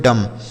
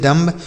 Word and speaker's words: dumb: आगे लिखा है DUMB, इसे पढ़ेंगे बच्चों डम। DUMB इसे पढ़ा जाएगा डम, मतलब होता है गूंगा। डम मतलब गूंगा, जैसे ही इज़ डम्ब, वह गूंगा है। ही इज़ डम, वह गूंगा है। इसको डम्ब नहीं पढ़ेंगे बच्चों, यहाँ जो बी